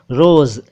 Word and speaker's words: रोज़: का के नीचे नुक्ता, रोज़ ज के नीचे नुक्ता, कत्ल आम क के नीचे नुक्ता।